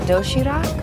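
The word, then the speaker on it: 도시락: It's called dosirak? Yes. Am I pronouncing that right?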